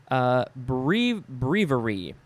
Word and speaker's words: breviary: Next is a word that can be pronounced 1, 2, 3, 4, like 5 different ways. Breviary, or breviary, or breviary, it's different ways.